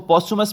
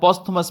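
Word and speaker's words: posthumous: इसको पॉस्चुमस भी पढ़ा जाता है और पॉस्थुमस भी पढ़ा जाता है।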